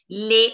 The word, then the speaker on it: les: So guys, the pronunciation of L-E-S is going to be les. Les. Les. It's a pattern. Les.